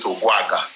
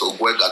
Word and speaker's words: Ogwega: They mispronounce it. They call it Ogwaga in Ondo. I'm telling you, I've met so many of your awos in that place. So they'll call it Ogwaga, but it's Ogwega.